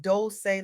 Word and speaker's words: Dolce: I want to welcome you to the Soft Girl Era podcast, hosted by Dolce, pronounced Dolce like sweet softness whispered in French.